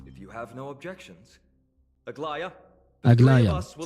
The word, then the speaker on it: Aglaea: Aglaea.